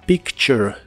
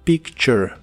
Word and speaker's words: picture: fotografía o una foto la letra T de picture se pronuncia como ch a picture a picture y usaremos la palabra